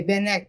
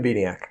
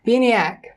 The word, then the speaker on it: Bieniek: With us today is Bieniek. I knew I was going to ruin it. I was going to say Bieniek, but... No, it's Bieniek. Bieniek.